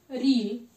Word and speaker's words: ऋ: आता है दीर्घ उ, री, यानी कि ऋषि का री। जैसे कि आप इसे मराठी में रू कहते होगे, परंतु यहाँ पर हिंदी में हम री का उच्चारण करते हैं।